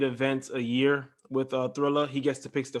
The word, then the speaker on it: Triller: contract with, is it Thriller or is it Triller? Thriller. I was fucking up the Zone and Danza. I'm pretty sure it's Thriller. It's Thriller. Okay, all right, because I think it might be spelled without the H.